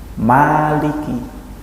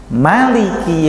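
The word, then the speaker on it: مَلِكِ: Ya, hadis yang kedua dari Ummu Salamah, Rasulullah membacanya Maliki yaumiddin. Mimnya pendek, sama hadisnya juga riwayat Tirmidzi.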